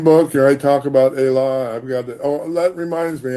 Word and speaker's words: Ela: Ela Yeah. is E-L-A, Ela. E is pronounced A in Yoruba. It's just like Spanish.